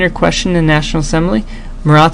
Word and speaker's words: Marat: lot of different things this guy is morat he is a journalist he is a leader of a newspaper um Mora is actually how you say his name he's the editor of